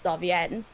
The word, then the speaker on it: Zarvienne: or zavi but the actual pronunciation of it is xavier ah there he goes